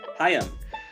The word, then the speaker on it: HAIM: HAIM. HAIM. HAIM. It's so weird saying HAIM.